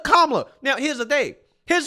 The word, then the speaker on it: Kamala: about the fact that you're mispronouncing kablo Harris's name you're calling her camela right instead of kamla now here's the thing